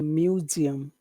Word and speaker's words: museum: you to think about which is the biggest syllable museum museum museum which which is me Mew the other ones are not so big museum museum museum say